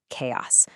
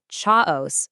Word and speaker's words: chaos: And we're back where we started, chaos. So, the big secret here, that CH makes a hard K sound. So, it's not cha-os, it's chaos.